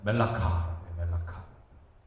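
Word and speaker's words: מלאכה: 일이라는 단어는 발음을 어떻게 하냐면 멜라카. 왕은 멜레크. 그러니까 뭐 듣기에 되게 비슷하잖아요, 그죠?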